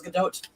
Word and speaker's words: Gadot: There was the whole, Gal Gadot versus Gal Gadot, and then it's the actual pronunciation is Gadot.